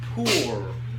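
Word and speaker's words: פור: How do you say a lottery in Hebrew? Poor. A poor. Pei, vav, resh.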